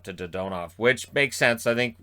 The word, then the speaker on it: Dadonov: who has now changed the way that is pronounced from dadmob to dodonov which makes sense i think a lot of